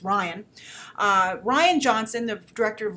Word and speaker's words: Rian: So anyway, Rian Johnson, some people told me it's pronounced Ryan.